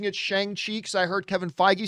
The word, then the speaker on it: Shang-Chi: song chi but then they said in the trailer it's pronounced shongxi like a soft a now we know how